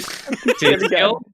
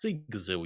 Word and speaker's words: Sigzil: Is it Sizgil? Sizgil? It is not Sizgil. It's Sigzil, you.